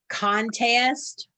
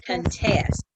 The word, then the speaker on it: contest: The next word can be pronounced contest or contest.